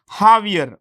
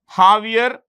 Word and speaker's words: Javier: Javier. The J is pronounced with an H. Javier Milei.